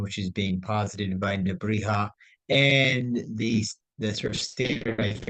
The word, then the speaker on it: Nebrija: I mean, I should remember that the ja in Spanish is pronounced uh, like el jefe, not jefe. So Nebrija, Nebrija.